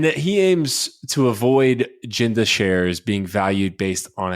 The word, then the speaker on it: Genda: recently tweeted out that ginda is building an entertainment conglomerate sorry jinda that jinda is building an entertainment conglomerate and that he aims to avoid jinda shares being valued based